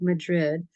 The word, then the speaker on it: Madrid: twin Villages of Madrid um which looks like Madrid but they pronounce it Madrid and also Cerrillos which is